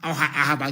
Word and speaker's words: Ahaba: They stayed at Asaba, Ahaba to pronounce the correct name, and they came to Omai in Ibeku.